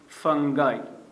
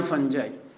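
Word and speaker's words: fungi: फिर प्रोटिस्टा, उसके बाद प्लांटी, उसी के साथ एनिमेलिया एंड देन फंगाई या फंजाई।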